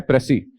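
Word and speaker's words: précis: उसे क्या बोलते हैं, प्रेसी। एस एस लास्ट वाला एस जो है साइलेंट होता है।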